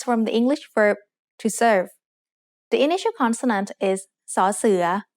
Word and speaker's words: เสิร์ฟ: Serve. Serve is said with a low tone because of the same tone rule we had earlier.